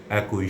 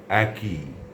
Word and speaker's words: একই: আমি অসংখ্য মানুষের মুখে এর উচ্চারণ একই শুনেছি।